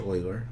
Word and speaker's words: Euler: the properties of it were developed by Leonhard Euler so of course looks like you're but it's pronounced Euler and hence his name starts with an E